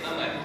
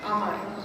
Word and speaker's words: Amar: The common pronunciation जो हमने उर्दू में पढ़ा है कुरोया, but as I understand it, the actual Arabic pronunciation is Amar. Amar.